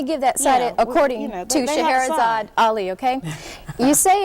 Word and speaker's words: Shahrazad Ali: Shahrazad Ali.